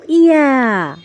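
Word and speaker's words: ي: ছোট্ট বন্ধুরা, এটা হলো ইয়া। এটা হলো ইয়া। ইয়াটাকে আমরা জিহ্বার মধ্যখান তার বরাবর উপরে তালুর সঙ্গে লাগিয়ে উচ্চারণ করব।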